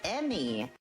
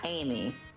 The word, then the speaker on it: Amy: of Amy Rose is Emmy E Mm Y Rose. So we are saying it wrong. Any person that's ever called Amy Amy is wrong. Her name is Emmy not Amy.